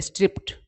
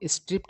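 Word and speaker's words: stripped: से स्ट्रिप्ड बना है, तो इसका उच्चारण सही होता है स्ट्रिप्ड, है ना। वैसे बहुत सारे ऐसे वर्ड है जिसमें ई डी या फिर डी लगने पर उसका उच्चारण ट जैसा हो जाता है, ठीक है ना।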